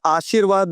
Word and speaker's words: आशीर्वाद: आशीर्वाद, आशीर्वाद, यहां लिखा है आशीर्वाद, थोड़ा सा ऐसे समझते हैं, आ शिर। अब र किसके उच्चारण के बाद आ रहा है?